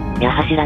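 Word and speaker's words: 八柱: ちなみに武蔵野線の場合、読み方は矢柱ではなく、矢柱なんですね。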